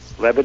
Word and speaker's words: Levitt: And you do pronounce it Levitt, right? Levitt is correct, yes.